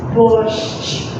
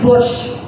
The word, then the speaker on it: борщ: So it's borscht, which is our national soup. We are proud of it. Once again, borscht.